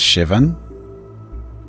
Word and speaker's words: Seoban: Seoban is pronounced Shivven.